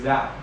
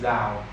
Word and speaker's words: dạo: nó là dấu nặng, nhưng mà tâm đang hát thành dấu huyền là từ dào. Từ dào, tại vì tiếng Việt mình có một số từ nếu mà mình không có phát âm đúng dấu thì nó bị sai nghĩa. Nên là từ bao nhiêu thì em cứ nhấn, cứ giống như là chữ dạo, em chỉ cần dạo chạm nhẹ xuống dấu nặng để em nghe nha.